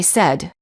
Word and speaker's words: said: against any many warning common mistake the verb say is pronounced with an s sound in the past tense and in the present tense when it is followed by an s for example i say but i said he says don't say i sayed